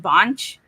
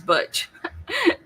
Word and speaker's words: Butch: Or and James was always mispronouncing his name, calling him Bonch. And he says, my name is Butch.